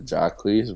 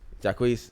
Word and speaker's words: Jacquees: I ain't gonna like if I'm gonna be honest, the Jacquees version was mid.